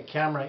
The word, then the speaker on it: Kamra: Raleigh today I would like to explain the camera inlay because this was recently FDA approved for